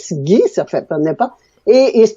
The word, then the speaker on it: Ghis: Mais ça se prononce, souvent, on le prononce Guy, ça fait pas. Et c'est pour ça que je dis aux gens, ben, pour le prononcer, comme le beurre clarifié.